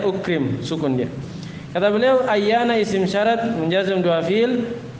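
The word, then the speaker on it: أَيَّانَ: Baik, kemudian yang ke-8 ayyana. Ayyana cara bacanya di fathah hamzanya dan di tasdid ya-nya ayyana.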